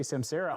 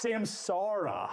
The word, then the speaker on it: Samsara: the name people say Samsara. I kept saying it. Julie had to correct me. I finally realized you have to say it like a pirate. It's Samsara. Argh. It's the R.